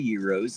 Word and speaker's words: gyro: As Americans, we tend to call them gyros, but it's pronounced gyro, like a Greek flatbread sandwich.